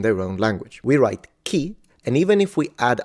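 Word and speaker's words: 木: is tree this will be the kanji it's pronounced key and of course it's not what we are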